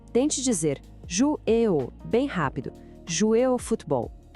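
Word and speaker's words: jouer au: A pronúncia de jouer ou é super conectada, parece uma palavra só. Tente dizer jouer ou, bem rápido.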